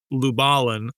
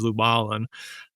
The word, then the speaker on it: Lubalin: later discovered that he they pronounce it lubalin so that's what that's my little differentiators I'm luin and he's lubalin um but um yeah